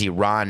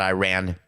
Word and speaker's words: Iran: aware Tyler Adams that the name of our country is Iran not Iran and that you all